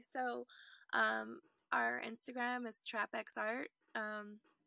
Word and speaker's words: TrapxArt: um our instagram is trapex art um the x is silent but it is there so traffic's art our website is traffic